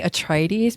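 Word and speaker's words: Atreides: Paul atries I say atrides because I learned German and that is how you would pronounce this name in German but Julia what were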